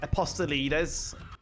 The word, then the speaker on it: Apostolides: his last name apostle leaders if i'm saying it correctly that's exactly right dude i think the challenge me then on that one apostelitis that was good so